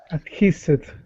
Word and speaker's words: adhesive: Adhesive. Very good. Middle syllable stress.